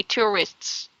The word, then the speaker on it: tourist: Say tourists. Tourist, tourist, right? Tour. Tour, Tourist. tourist. It comes from the root word tour. Tour means trip. I know. Trip. So you pronounce Tourist, this as tourist. tourist.